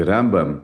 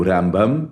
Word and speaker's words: Rambam: Na mesma época que viveu Rambam, no sul da Espanha, viveu Ramban na região de Barcelona. A diferença é só o N e o M final, então Rambam e Ramban.